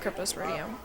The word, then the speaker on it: Cryptosporidium: do you pronounce that c ry PT o SP o RI di um Cryptosporidium all right and now